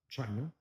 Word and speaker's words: China: So, for example, and you pronounce this, it's like ch, pretty much like it is in English. Okay, so we have la China, China, right?